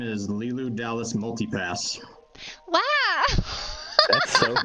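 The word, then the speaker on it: Lilou: element well you know there's a french name lilu but it's spelled l-i-l-o-u that was the name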